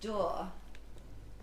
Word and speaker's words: dour: It seems a lot less dour. Dour, did you mean? Oh, Christ. Okay, yeah, I do mean dour. That's how my dad pronounces it, but he's an immigrant and I picked it up from him.